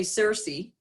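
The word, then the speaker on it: Circe: personal life and it's we would say Searcy but Kiki is actually I believe the the Greek pronunciation by Madeline Miller fantastic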